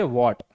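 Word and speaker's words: what: अब देखिए जब किसी शब्द की शुरुआत डब्ल्यू एच से होती है और इसके बाद ए ई आई या वाई आता है तो एच का उच्चारण नहीं किया जाता। देखिए डब्ल्यू एच के बाद सबसे पहले आता है ए। अगर ए ई आई या वाई हो तो फिर हम एच का उच्चारण नहीं करते।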